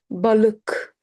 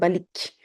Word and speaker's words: Balık: Balık, balık. We don't say balik. Balık, k. Balık.